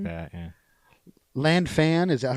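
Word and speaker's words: Lan Fan: Land fan, is that how you pronounce it? Lanfan.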